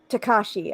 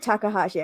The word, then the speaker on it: Takashi: Takashi. I said Takahashi. I added an extra syllable.